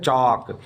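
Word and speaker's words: chalk: उसी को बोलते हैं चौक या फिर लिखने वाला ब्लैक बोर्ड प जो आप लिखते हैं वो वाला को भी चौक बोला जाता है इसमें एल का उच्चारण नहीं होना है वॉक का मतलब होता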